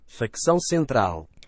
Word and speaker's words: Facção Central: I looked up how do you pronounce the name of this uh this artist? Fixo Central.